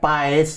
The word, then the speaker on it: Paes: Kan ada Paes gitu kan. Enggak, itu karena dia nenek moyangnya dari Belanda Selatan dekat Belgia, AE disebut A, tapi itu pas bacanya.